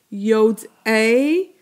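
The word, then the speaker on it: יֹדְעֵי: Yod-a tovara. So Yod-a rhymes with what? Rhymes with Binet, right?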